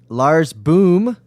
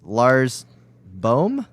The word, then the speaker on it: Lars Boom: he never will be Lars boom is pronounced with a very long ooh as in bore for